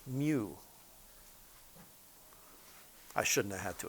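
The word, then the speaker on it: μ: probably use the countertop this is a Greek letter pronounced Mew okay that's how it's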